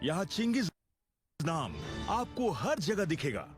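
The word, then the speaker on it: Chinggis: सब अग्री करते हैं, वो है चिंगिस, ना कि गेंगिस।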